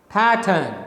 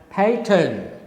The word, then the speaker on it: pattern: Okay, so the first syllable is stressed, second syllable is unstressed. So you should pronounce this word as pattern, right? You can't say pattern, is wrong, because second syllable is not stressed, first one is stressed.